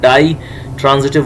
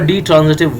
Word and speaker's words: ditransitive: discuss the definition of dye transitive verbs you know it is pronounced die and d both you can write it separately as well di or d transitive verbs you know die